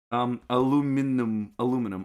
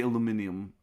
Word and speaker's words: aluminium: Aluminum. I say aluminum. I don't say aluminium, even though I think both are valid.